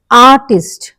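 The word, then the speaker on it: artist: stress పడుతుందో చూద్దాము ఇక్కడ ఆర్టిస్ట్ అన్నప్పుడు ఆ అన్న దాని మీద పడుతుంది కంపేర్ పేర్ మీద పడుతుంది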